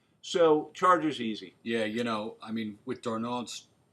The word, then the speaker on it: Darnold: Yeah, with Darnold's, how do you say his name?